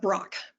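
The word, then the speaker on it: Brach: a woman named tara same as me but pronounced differently tara brock b-r-a-c-h and she has a beautiful self-compassion meditation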